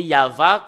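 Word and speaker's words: יהוה: la Sainte Écriture hébreu c'est yava qu'on le prononce et vous pouvez pas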